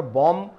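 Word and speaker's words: bomb: को छोड़ दिया, लेकिन यहां पर बॉम एम को उच्चारण किया और यहां पर बी को बाद में छोड़ दिया।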